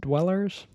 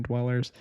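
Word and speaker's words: DWLLRS: This is a brand new one by the artist Dweller's. It's spelled d w l l r s. So, basically like Dweller's but without the vowels, I guess.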